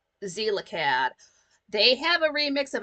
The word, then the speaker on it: Xelacad: remix of it by Zelacad. It's spelled XELACAD. Zelacad.